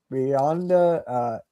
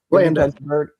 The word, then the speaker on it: Blanda: Brett Favre, Beyonda, George Beyonda, I think his name is. I can't pronounce it. Blanda.